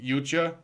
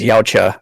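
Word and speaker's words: Yautja: Baby Yucha, child predator. Oh yeah. Is that for those of you playing along at home? Yucha, as Frank pronounced it, I thought it was Yaucha, but something like that, is the race that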